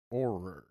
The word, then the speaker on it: Auror: How do you pronounce it? Auror.